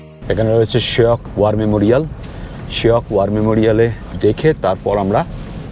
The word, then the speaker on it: Shyok: আচ্ছা, আমরা উচ্চারণ করছি শায়ক নদী, কিন্তু স্পেলিংটা হচ্ছে SHYOK। শায়ক বলতে হবে শখ হ্যাঁ, शायक शायक শায়ক, ওরাও বলছেন শায়ক, কিন্তু এ নেই স্পেলিংয়ে।